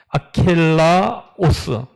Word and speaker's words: 아켈라오스: 그래서 헤롯이 자기가 통치하고 있는 유대 땅을 3등분을 나누어 가지고 세 아들에게 나누어 주었는데 유대와 그 주변을 오늘 본문에 나오는 아켈라오스, 정확한 발음은 그렇게 됩니다.